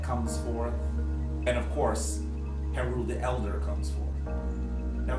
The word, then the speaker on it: Heru: in the Kemetic language, when we hear the word Heru, that ul sound at the end is a sound that seems to evoke plurality.